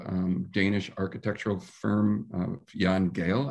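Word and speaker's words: Jan Gehl: danish architectural firm of jan gale i believe is the way to pronounce it that there are efforts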